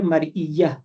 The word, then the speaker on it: مرئیہ: نجاست مرئیہ، نجاست مرئیہ۔ نمبر 2 نجاست غیر مرئیہ، مرئیہ کی سپیلنگ آئیں گی میم رے حمزہ یہ اور